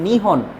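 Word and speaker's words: 日本: কাঞ্জি লিখেছি পরের অংশ, তাহলে এইবার আমি এটাকে পড়বো নিহন। এই শব্দটাকে এবার পড়তে হবে কি করে? নিহন শব্দ দিয়ে পড়তে হবে। নিহন মানে জাপান। আমরা যেই দেশে যেতে চাই সেই দেশটার নাম হলো জাপান। আমরা আমাদের ভাষায় বলি জাপান, বা ইংলিশে বলা হয়ে থাকে জাপান, কিন্তু জাপানিজরা নিহন বলে চিনে থাকে, নিহন।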